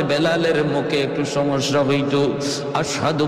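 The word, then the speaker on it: أشهد: আশহাদু বলতে পারতেন না। বলতেন আসহাদু। সিন উচ্চারণ করতে পারতেন না। সিনটা ভালো করে উচ্চারণ হতো না।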